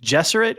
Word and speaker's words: Gesserit: Oh, I say RG Benny or soft G? Gesserit. Gesserit, yeah. Benny Gesserit. Benny Gesserit. Yeah. Okay, good. Yeah, all right, yeah. we're all on the same side. No. It's not. No, it's definitely not a hard G.